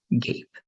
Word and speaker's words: gape: So instead of gap, just like that, it's going to be gape. Okay. So gap, the pronunciation with a P is gap. The pronunciation with an E is gape.